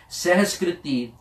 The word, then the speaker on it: Sehaskriti: Sehaskriti. Sehaskriti is the name of this Bani. Some people incorrectly pronounce it कि इस संस्कृत दे श्लोक या पर इस सहस्कृति दे श्लोक या.